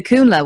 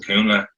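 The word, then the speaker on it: Cúnla: like moving, like the Kunla one. Am I pronouncing that right? Kunla? Yeah. No, yeah. Yeah. You're on the ball.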